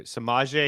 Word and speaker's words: Samaje: Oh yeah, so I got to pronounce it for you. Samaje Yes.